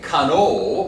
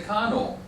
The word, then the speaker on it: cano: Oh, we don't say cano, we say cano.